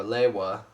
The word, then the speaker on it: Lewa: scheme as Liwa, or Lewa. I still haven't known how to pronounce Liwa's name. I still don't know, you know. They say Liwa in the movie, but in the advertised they say Lewa.